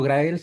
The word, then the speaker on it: Graells: una pregunta difícil porque yo pensaba que era grs tal como se escribe pero hace algunos años me enteré que es Esa es la pronunciación original en Cataluña Así que yo siempre digo grael y solamente en España digo gra así que puedes decirlo como quieras pero no como si fuese en inglés que esa